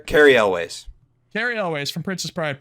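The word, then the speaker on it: Cary Elwes: How do you pronounce his last name? Carrie Elways.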